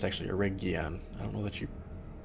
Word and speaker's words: Eregion: I think it's actually Eregion. I don't know that you... I think it's a hard G.